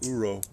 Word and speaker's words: uro: acceptable you can turn it into what's called uro which is spelled Ur o and it's a Japanese term